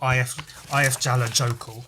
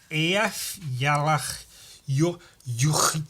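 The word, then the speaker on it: Eyjafjallajökull: It's more like Ayafyala Yoku or something. It's more or less Ayafyala Yoku. If it was said by a British person but pronounced more or less correctly, it would be Ayafyala Yoku. But it just sounds more Icelandic, which, given that it's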